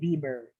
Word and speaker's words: Weber: It's actually Weber. V. It's not We. That's how you pronounce it now.